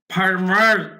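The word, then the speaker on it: farmer: ফার্মার, এটা আরির উচ্চারণটা একদমই স্পষ্ট করে বলতে হবে। আমেরিকান ইংলিশে আরির উচ্চারণটা ব্যাপক, এটাকে রেড আর বলা হয়।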